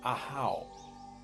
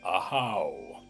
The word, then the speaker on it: Ahau: 20th glyph is called Ahau in the Yucatecan pronunciation. In Guatemala, they call it Ahpu.